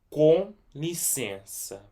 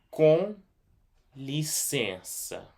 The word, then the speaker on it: Com licença: So just so you know that this C right here, after the I and before the E right here, it's pronounced like an S, but every time if